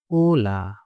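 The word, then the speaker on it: hola: প্রথমটা দেখেন এটা হচ্ছে ওলা ওলা দেখে আপনাদের হোলা মনে হতে হবে আবার উচ্চারণটা হোলা না এটা হবে ওলা মানে হচ্ছে হ্যালো খুবই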